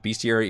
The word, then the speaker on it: bestiary: By the way, I am using the pronunciation of bestiary, even though I am aware that it technically reads as bestiary, but I think we all agree that bestiary is the proper way to pronounce this word.